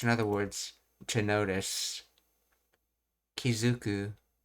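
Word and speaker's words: 気付く: other words, to notice, Kizuku, and it's pronounced as Zu because of the 10-10 rule when attaching things.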